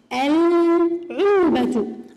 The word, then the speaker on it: العلبة: طيب علبة إذا دخلت عليها للتعريف تصبح العلبة، العلبة. أيضا حقل، الحقل. لاحظوا معي صغاري، هل لفظنا اللام هنا؟ ال، ال. نعم اللام تلفظ هنا.